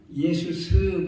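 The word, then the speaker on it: Ἰησοῦς: 그런데 우리 발음으로 예수님은 예수스 그렇습니다. 예수스. 그리고 그리스도는 그리스도스 그럽니다. 그래서 우리 발음으로 예수, 우리 발음으로 그리스도 이러는 겁니다. 헬라 말로는 이름이 누구나 다 사람 이름에 맨 나중에 스를 붙입니다. 스.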